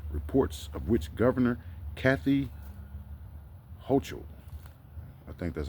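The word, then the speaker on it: Hochul: medium security prison reports of which governor Kathy hoo I think that's how you pronounce her name h o c h u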